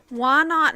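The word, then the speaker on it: Whynot: Why not? I think it's Wynot then. No, it's just why not.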